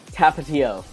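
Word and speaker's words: Tapatío: where people give me their recommendations for sauces tapatio oh okay tapatio thank you for educating me on how to pronounce this tapatio is tapatio hot sauce so is this like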